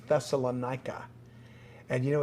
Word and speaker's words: Thessalonica: city was pronounced it's a greek city it's pronounced thessalonica and you know it's still here today really